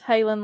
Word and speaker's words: Halen: But her name's Halen, like Van Halen. So anyway, spelled the same.